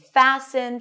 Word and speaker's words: fasten: And we see it in words like soften and fasten. Fasten your seat belts. We don't pronounce the t here.